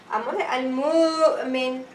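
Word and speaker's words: المؤمن: you pronounce the Hamza with the haraka on the Hamza. Example. If I say the word Al-Mu, me. Okay? So, Al-Mu'min. Okay? Al-Mu'min. Al-Mu'min. How many syllables? 3 syllables.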